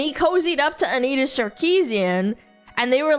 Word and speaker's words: Sarkeesian: I I say it like in the I'll say Sarkeesian, but you're supposed to say Sarkeesian.